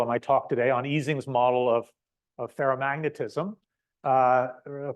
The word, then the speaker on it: Ising: our revenge on Mr eing at least on this side of the Atlantic because we almost universally mispronounced his name as as eising so it wasn't until